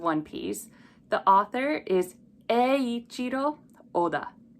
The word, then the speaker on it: Eiichiro Oda: This one's a little tricky just because we have the letter E, two I's in the front. So first we group E, and then the two I's make a long E sound. Eiichiro, Eiichiro, Oda. So O is by itself, then Da is together. So Eiichiro Oda.